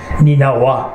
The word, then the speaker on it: Nineveh: নিনেভা আর আরেকটা pronunciation হচ্ছে নিনাওয়া। So there are different pronunciation. It's in Iraq, Nineveh, famous place.